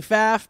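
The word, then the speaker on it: Pfaff: it my name is faff pronounced like path the first F is silent RI faff and I'm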